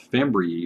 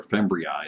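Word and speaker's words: fimbriae: top of the cell those are called fembree or fembriae is another pronunciation for that and again not all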